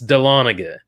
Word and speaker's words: Dahlonega: Yes, Dahlonega.